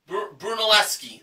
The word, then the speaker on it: Brunelleschi: room at the hotel brunel shelley brunelleschi that's that's how it's pronounced there you go with